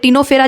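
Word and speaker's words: Ctenophora: तो और देखो प्लैटीहेलमिंथिस के ऊपर 2 सी आते हैं, एक सीलेंट्रेटा और एक टीनोफेरा जिसमें सी साइलेंट है।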